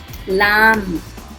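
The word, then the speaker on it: lamb: यहाँ पर है B साइलेंट. इसे हम कोम्ब नहीं पढ़ेंगे, इसे हम कोम पढ़ेंगे. कोम. कंगा, लैम, मेमना, थम.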